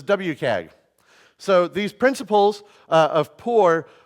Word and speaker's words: WCAG: Accessibility Guidelines version 2.0, often pronounced as WCAG.